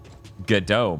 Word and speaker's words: Godot: a console right unlike Godot or Godot Godot mate I think that's how it's pronounced right Bob yeah it is Australian yeah what the